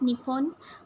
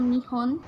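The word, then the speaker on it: 日本: So Japan, pronounced in Japanese as Nippon. On first countries on, is Japan. Second countries Japan is culture. Vietnam. Japan, pronounced third in is Japanese Indonesia. As Nippon or Nihon.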